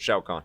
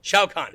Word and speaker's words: Shao Kahn: Shao Kahn. Shao Kahn.